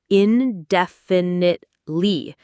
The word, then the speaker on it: indefinitely: It's indefinitely. There are five syllables. The main stress is on the second syllable.